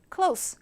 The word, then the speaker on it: close: 문닫 인데 얘는 클예요 스 세게 된 소리로 발음해야 돼요 쓰레기 할 때처예요 분들 해보세요 close 가까운이라는 의미로 얘기할 때는요 close Japan is very